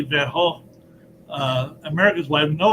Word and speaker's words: Van Gogh: goes the american pronunciation the british pronounced his name van gogh but in the original dutch jeez are silent so it's more like van hall but i think if you say van gaal uh americans will have